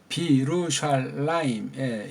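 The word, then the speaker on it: בירושלים: 원래 이게 예루샬라임 이렇게 해야 되는데 이게 접수사가 부잖아요. 부부되니까 앞에 걸 비로 해주면서 여기를 없애서 비루샬라임 이렇게 된 거예요.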